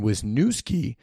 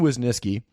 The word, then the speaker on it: Wisnieski: Wisniewski and I recently realized that I've been pronouncing his name incorrectly for a long time I've always been calling him John Wisniewski with a W in the name and I